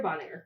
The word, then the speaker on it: Bonaire: I thought you were going to tell me how to pronounce it. Bonaire, Bonaire. It's Bonaire. Bonaire.